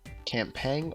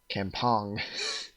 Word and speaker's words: Kampong: Campang orders, sir. Kampong. The Kampong orders. I used to pronounce it like that because I'm an idiot.